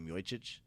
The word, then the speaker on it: Miocic: Fabricio Verdum defends his belt against Stipe Miocic, which I'm looking. Like were you just saying noise over there? What's Miocic? M-I-O-C-I-C. Miocic. I know that there's no H.